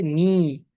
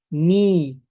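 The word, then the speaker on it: 你: তাইলে ইউ এর Chinese form হচ্ছে নি। নি। ঠিক আছে? এই স্ট্রেস আছে। যেহেতু আই এর উপরে ক্যাপ। দ্যাট মিন্স এখানে একটা স্ট্রেস আছে।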